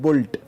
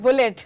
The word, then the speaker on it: Bullet: Delhi they call it Bolt. The E is silent, BULLT. Oh, okay. Not bullet.